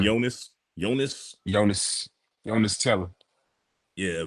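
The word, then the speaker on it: Yoenis: Julian Williams is how you say his name yonas yonas yonas Jonas tell yeah versus Julian Williams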